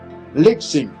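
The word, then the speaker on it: θλῖψιν: Se escribe TH antes de lipsis, con TH adelante. THLI, P intercalada, SIN. Lipsin.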